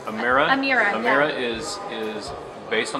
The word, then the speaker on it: Amira: And during the presentation, so the new, I want to make sure I pronounce it right, Amira? Amira, Amira, yeah.